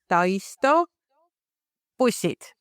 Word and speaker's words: Taisto Bussid: How do you pronounce the company name? Hello everybody. The company name is Tyto Pusset, but we can keep on the shorter version, Taisto Company.